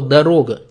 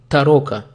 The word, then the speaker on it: дорога: Ну а советские войска, чтобы проверить, немец перед ними или русский, проверяли его с помощью слова «дорога», так как немец не мог проговорить это слово и говорил «тарока».